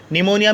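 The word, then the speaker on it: pneumonia: N-you M ओ एन आई am psycho psychotic2525 नमोनिया में एंड से पहले पिए तो फिर साइलेंट आप साइकोलोजी साइकिक सूडो साइकोसिस न्यूमेटिक देखिए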